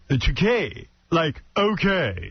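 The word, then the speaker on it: Takei: I said, "Thou okay." It rhymes with okay.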